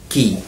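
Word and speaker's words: quay: pronounce it wait it is wrong the correct pronunciation is key key view a y key key means the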